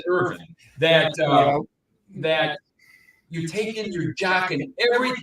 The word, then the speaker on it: Irvin: idiot Chris Irvin know because it's not Irvine oh no you have to pronounce it Irving that that you taking